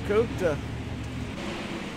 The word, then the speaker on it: Kupta: That's not how you say his name. It's Kupta.